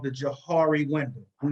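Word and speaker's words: Johari: i want you to understand something called the jahari window i'm not going to go into it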